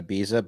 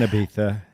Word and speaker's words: Ibiza: to say it's an Ibiza yeah so you pronounce the Z like a th that's interesting yeah did